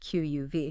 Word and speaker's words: Qμν: An exclusive deep dive into Q theory, that's pronounced QUV. Yeah, QUV.